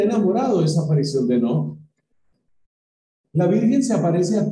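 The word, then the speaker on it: Knock: Hay otra aparición que se da en el siglo XIX, que es la aparición de Enoch. Se escribe con una K inicial, K-N-O-C-K.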